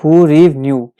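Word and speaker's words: hryvnia: इसकी प्रोनाउंसिएशन है हू रीव न्यू।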